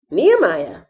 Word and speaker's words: Nehemiah: amman nimrod new year nephilim nebosh necklace nebuchadnezzar nehemiah here we go this is how you pronounce his name knee and his name actually